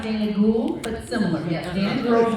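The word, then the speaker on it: Dana Gould: named Dana G Dana it's pronounced Dana ghoul but similar Dan girl name Dana gold I can see how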